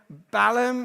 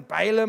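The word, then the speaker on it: Balaam: Okay, Balum or Balum, however you want to pronounce it, is not happy.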